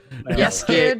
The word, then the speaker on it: Jaskier: Yaskier de Reese.